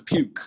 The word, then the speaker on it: puke: To puke. To puke your puke. Again. To what? So this word is pronounced as this. Puke. To puke. So there is Y here.